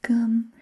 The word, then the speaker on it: cơm: They say chấm cơm, because com, in Vietnamese we pronounce it cơm, and cơm, which means rice.